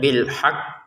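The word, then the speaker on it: بِالْحَقّ: Pertama, untuk tekanannya bil haq kita tekan dulu. Kan ada tasydid di atasnya kof ya. Kita tekan dulu bil haq, baru pantulannya setelah kita menekan.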